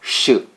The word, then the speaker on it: Ș: this episode we're going to look at litora shoe litora shoe leather shoe the name of this